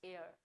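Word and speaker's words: heir: बट ये गलत है यहां पर भी एच साइलेंट है। इसकी आवाज, इसकी प्रोनंसिएशन हमसे कहती है इट्स एयर।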